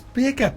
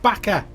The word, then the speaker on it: Baker: It's Baker. Why do I keep thinking Vince is a German? It's Baker, not Backer.